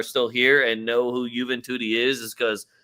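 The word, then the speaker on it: Juventus: And the only reason that some of you are still here and know who Juventi is is because their name rhymes with Booty.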